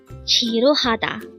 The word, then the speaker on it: 지루하다: Chiruada. Again, chiruada. This pronounces a four syllable word. The first syllable is ch, second syllable is, third syllable is ha, and fourth syllable is da.